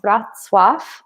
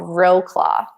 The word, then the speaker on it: Wrocław: vlogs, I have one on a town called Wrocław, and it took me like a couple days to learn how to pronounce it correctly. But in English, it looks like it's called Wrocław, phonetically speaking, but it's not.